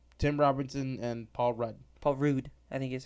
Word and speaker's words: Paul Rudd: Paul Rudd, I think is how he prefers it to be pronounced.